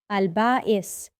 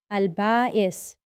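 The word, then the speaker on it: Al-Ba'ith: Let's learn together about a very special name called Albais. Say it like albbais. The name we're learning today is albbais. Can you say it with me?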